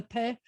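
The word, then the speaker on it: פ: over your bottom lip, take your fangs, your front teeth, and put it over your bottom lip. And then you have a no pill. You have your fangs. So you've now learned the Pheh and the Pheh.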